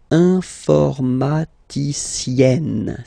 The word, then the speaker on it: informaticienne: And you get the sound informaticienne. Sienne. Remember, E and then double N, or then it could be double L or double consonant here. You open your E, so it's E. Informaticienne.